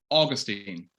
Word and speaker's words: Augustine: Augustine. Augustine. Okay. I want to say it like the theologian Augustine. That's how we say the theologian.